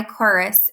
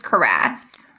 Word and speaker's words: cuirass: I think it's cuirass.